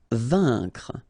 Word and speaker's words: vaincre: Vaincre. A-I-N together. Here it's un. Vaincre. CNR, vaincre.